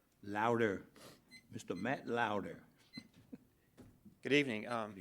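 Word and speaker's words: Lodwer: Matt Law, L-O-D-W-E-R, how you pronounce that? Louder.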